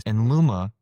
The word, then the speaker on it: Enluma: And did I pronounce that right? Enluma?